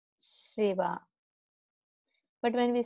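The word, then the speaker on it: शिव: So it is little, the voice sound is spread. Shiva.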